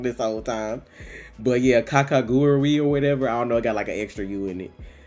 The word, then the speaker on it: Kakegurui: Because I just call it Kakaguri, and then OD was like, you missing a whole U, because she speaks Japanese.